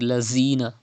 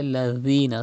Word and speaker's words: الذين: Dhal is pronounced without whistle. Do not read lazina. Say ladhina softly.